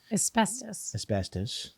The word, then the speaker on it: asbestos: Asbestos. Asbestos. No one pronounces the B.